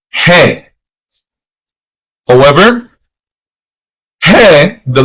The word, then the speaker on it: ge: Then we have the letter G that is called and pronounced as he.